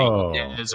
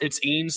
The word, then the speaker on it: Eanes: So they say Eanes or something like that. I said, no, it's Eanes like jeans.